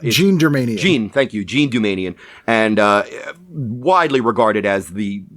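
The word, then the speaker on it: Jean Doumanian: it's a very recent article about the infamous John Dumanian year. Yes. I think I pronounced her name right. Jean Dumanian. Jean, thank you. Jean Dumanian.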